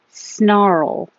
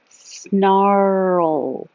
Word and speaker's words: snarl: unusual for English undeterred snarl because your tongue's moving from the r to the L it's like world snarl so keep making sound